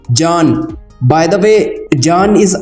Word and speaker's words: Can: I'm very sure that one question is popping in your mind that it's Can, not Can. Let me make it very clear. In Turkish language, it will be pronounced as Can.